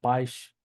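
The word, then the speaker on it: país: O la segunda forma, que es como ish al final de palabra, ¿sí? Vamos a ponerlo así. ponerle aquí, al final de palabra, se pronuncia ish, ¿sí? Por ejemplo, tener la palabra paish, paish, ¿sí? Paish.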